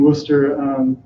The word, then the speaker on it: Worcester: he preached to us in Worcester as I said it right not booster booster he preached to us